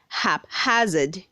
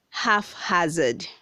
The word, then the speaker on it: haphazard: red 197 says haphazard say haphazard not half hazard read 198 says hank